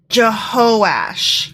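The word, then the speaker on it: Jehoash: know what I have I apologize I mispronounced that it's jehosh jehosh but still jehoiah has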